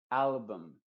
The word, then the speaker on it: album: Y las palabras que terminan en la U y la M, la U se pronuncia como una schwa. Por ejemplo, album. No se dice album, sino album.